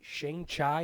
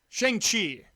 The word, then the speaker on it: Shang-Chi: out February 12 2020 Shane chai in the legend of the ten rings again when you when you pronounce these things incorrectly shang-chi and the legend the